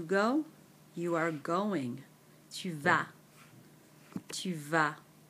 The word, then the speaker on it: vas: Tu vas. Tu vas. Notice there's an S on the end here, but again, silent. Tu vas.